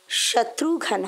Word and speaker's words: শত্রুঘ্ন: তবে উচ্চারণটা কিন্তু শত্রুঘ্ন হবে।